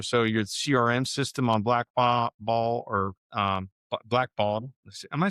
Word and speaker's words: Blackbaud: So your CRM system on Blackball or Blackball. Am I saying that right? Oh, Blackball? Black, Blackbaud?